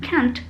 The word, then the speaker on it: can't: It is often difficult to hear the difference between can and can't because the final T in can't is not clearly pronounced.